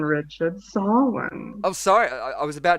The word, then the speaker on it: Samhain: Samhain, Richard. Samhain.